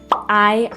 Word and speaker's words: hay: "Hay agua." And the H in Spanish is silent. So you want to remember that, just don't pronounce the H.